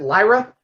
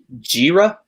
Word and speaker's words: Lyra: Is it Lyra? And Mark? Jira? I'm going to give the point to Dom. You had an incorrect pronunciation, but the spelling was right. It's Lyra.